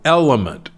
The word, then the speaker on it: LMNT: I happen to like a drink called Element. It's spelled LMNT.